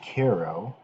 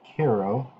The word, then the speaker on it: Cairo: intention was to reach cairo cairo as it spelled but they pronounced it cairo and to travel up